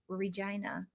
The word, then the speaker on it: Regina: I'm from Regina. Interesting. The slogan is the city that rhymes with fun.